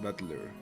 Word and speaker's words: Battler: It's made up for the characters for fight and person and is pronounced battler.